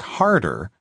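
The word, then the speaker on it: Hörður: Iceland's house of parliament harder pronounced roughly like harder suggested I take a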